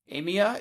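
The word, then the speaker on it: Amiens: Like, I spent a couple weeks in a city called Emia. Amia. It's spelled like Amians.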